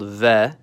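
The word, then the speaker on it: В: It's called V. And like Spanish, it makes a V sound.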